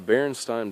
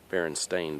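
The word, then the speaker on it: Berenstain: n Bears okay now the name is not spelled with an E it's spelled with an a b e r n s t a i n baring stain Bears okay I remember my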